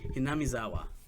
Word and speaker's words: Hinamizawa: good you don't say just to correct Bailey's pronunciation it's keishi and uh hinamizawa Nick oh excuse me